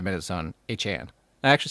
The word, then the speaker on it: Achane: We spent the whole first 5 minutes on Achane. I actually said it right. Look at that. Achane.